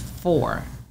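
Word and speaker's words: Phor: Okay, so his name is Four from Black Ink Crew. Okay. Foreplay. Four. P-H-O-R, right?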